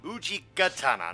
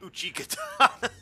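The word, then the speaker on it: Uchigatana: Oh, let me say it right. Uchi Katana, not Uchi Katana. Sounds like some stupid off-brand name.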